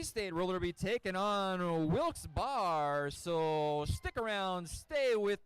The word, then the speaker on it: Wilkes-Barre: You talking about Wilks Barre? Barre. It's Wilks Bear. Or Barry?